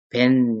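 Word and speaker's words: בֵּן: 베트 밑에 점점이 있죠. 이것은 발음 기호 표에 보면 뭡니까? 체레죠. 그래서 에로 발음이 됩니다. 그래서 배 이렇게 발음하시면 되고 뒤에 이 축 늘어진 거는 뭐죠? 눈이라고 했죠. 눈. 눈은 니은과 같습니다. 그래서 벤 이렇게 발음하시면 돼요.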